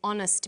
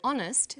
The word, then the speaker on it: honest: So we say a happy man, but an honest man. The H is not pronounced, so honest sounds like it starts with a vowel.